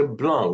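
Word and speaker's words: blondes: Now, as you come, here we say blonde. We do not pronounce the D and the S because the S is the mark of Yeah, plural. yes. Blonde, the D is pronounced the S silent as the end of the word.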